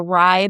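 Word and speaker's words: wry: And another thing that we sometimes see is something called a rye bite. It's rye like it's said like rye bread. It's spelled totally different.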